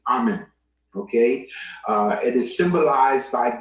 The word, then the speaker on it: amen: So understand, the word amen is actually pronounced amen.